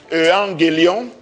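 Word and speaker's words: εὐαγγέλιον: Evangelium, qui est ce mot latin est tiré du grec ancien, qui se prononce Evangelion, et cela veut dire simplement bonne nouvelle.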